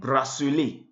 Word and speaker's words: bracelet: tabouré le tabouré h kiting stool nous avons bracelé bracelé bracelet le bracelet bracelet h bracelet on